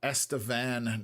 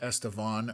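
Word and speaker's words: Estevan: Um, Outback Pondering pronounces uh, Estavan, not Estavon.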